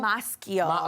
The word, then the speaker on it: Maschio: Maschio? Maschio. Okay, You know I've I'm never known how to Italian.